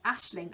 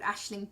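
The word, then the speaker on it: Aisling: So, the Ashling shawl by Justina, Justyna Lorkowska, Lorkawska, and it is Ashling. I looked it up. There's a British comedian, an Irish comedian even, called Ashling B.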